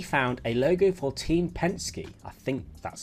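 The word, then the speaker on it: Penske: through and he found a logo for team pensy I think that's how you pronounce it I just Googled it that is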